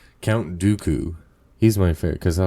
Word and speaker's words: Dooku: of course I actually like do dokus doku Dooku do little different Dooku Dooku I'm like why am I forgetting who how to say his name Count Dooku he's my fav cuz I like the curve